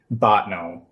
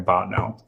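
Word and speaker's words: Bottineau: It is scary and Botnau specifically is a whole different there's like I grew up in Fargo which is the big city of what's the name of this town? Botnau spell it for me please.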